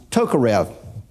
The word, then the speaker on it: Tokarev: this name is if is not pronounced the way we would pronounce it here in the United States but it's pronounced Tokarev my crewmate was a Russian Air Force Colonel Valerie Ivanovich Tokarev he wrote the Russian